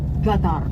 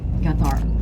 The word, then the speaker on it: Qatar: And ladies and gentlemen, the right pronunciation of Qatar is Qatar, because Q in Arabic is pronounced as letter G, Qatar.